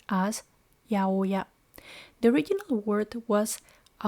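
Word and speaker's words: 八百屋: it is pronounced as yaoya. The original word was a monoya and abbreviated as aoya. Over time the pronunciation turned into yaoya.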